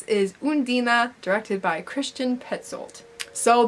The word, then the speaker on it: Undine: And I was saying Undine because that's how I thought it was pronounced until I watched the movie and then I realized it's Undina. They don't say it like that, but I did, and that's kind of how it's pronounced. It's not Undine.